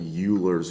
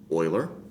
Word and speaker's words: Euler: bitly slot uler because everybody wants to call it uler method when they first see that but it's actually pronounced Oiler and that is case